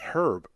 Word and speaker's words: herb: Herb. You said herb. Herb. No, Herb. no, the H is silent.